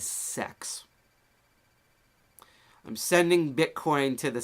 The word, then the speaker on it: CeX: cryptocurrency people and financers pronounced in the same way decentralized exchange d-e-x decks they pronounce centralized Exchange c e x as sex I'm sending Bitcoin to